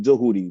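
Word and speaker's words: Djehuti: But we we pronounce it doodi.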